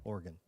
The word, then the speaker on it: Oregon: Oregon.